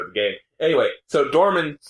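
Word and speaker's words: Dormin: It's Nimrod backwards. Dorman, there we go.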